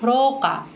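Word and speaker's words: 廊下: Nah, hati-hati ya antara locker dengan lorong karena mungkin sekilas terdengar mirip. Kalau lorong itu rokka, kalau locker rokka.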